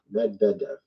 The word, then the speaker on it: Medvedev: Medvedev.